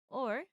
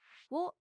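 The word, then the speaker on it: を: Wo is actually more commonly pronounced as o, and can sometimes be pronounced or depending on the syllable that comes after it.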